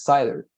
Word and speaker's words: cider: It's cider, like this. Cider. Cider. Yes. Sidra with S in Spanish, but cider.